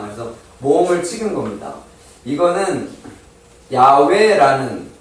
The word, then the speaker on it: 야훼: 이거는 야훼라는 발음이 야훼라는 발음이에요.